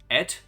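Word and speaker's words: ætt: fully retell, oh boy, how do you pronounce this word? AETT. You would know. Et? Et? Yeah, just et.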